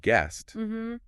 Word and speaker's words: guest: So like in the word guest, that silent e is making the u sound like a short e.